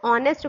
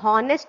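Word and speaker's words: honest: हम यहाँ पे ये जो एच ओ एन ई एस टी है ना, इसको ऑनेस्ट पढ़ते हैं, हॉनेस्ट नहीं पढ़ते हैं। इसका सही प्रोनाउंसिएशन होता है ऑनेस्ट।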